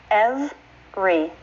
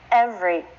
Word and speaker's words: every: of every as well the actual pronunciation isn't three syllables that's not what you'll see in a dictionary but I do hear my students do that sometimes the pronunciation is two syllables every every try that with me